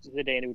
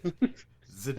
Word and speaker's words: Zdeno: What? Zdenu? Is that a real question? You thought Zdeno? Dude, have you ever heard Doc Emmerich pronounce it? It's Zdeno Chara. Every time.